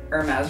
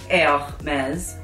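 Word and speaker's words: Hermès: But James Charles, you are saying Hermes wrong, and it's Hermes.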